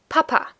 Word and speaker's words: Papa: children call their father Papa again the emphasis is on the first a and then we also